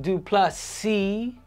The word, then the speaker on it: Du Plessis: isra asna versus DDP D plus C with the silent s is uh if he